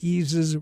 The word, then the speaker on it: Yeezus: And it's not an accident that Yeezus rhymes with Jesus.